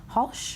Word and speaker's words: Hulsh: ceo and managing director of olea records jeremy halsh yes employees i'm pronouncing your name right that's correct okay and